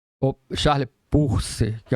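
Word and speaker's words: Peirce: Esse americano é o PER que se escreve Pier, né? Charles Perse ou Charles Purse, que é a pronúncia certa.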